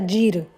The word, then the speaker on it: gir: Otra cosa muy graciosa es que gir en rumano se pronuncia gir.